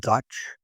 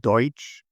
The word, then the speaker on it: Deutsch: There was what was called Dutch, which is a mispronunciation of Deutsch, meaning German.